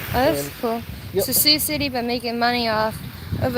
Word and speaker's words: Sioux City: Sioux City. Why is this Sioux? That's just how it's pronounced. Why is the X not pronounced?